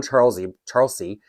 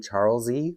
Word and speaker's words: Charlesie: And then I'm going to show you it on Charlesie. Sorry, Catherine pronounces her name Charlesie, like with a Z sound. And then I say Charlesie, like, a body of water.